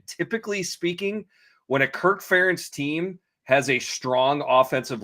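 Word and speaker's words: Ferentz: First of all, good job saying Kirk Ference, not Fence as people uh oftentimes mispronounce it.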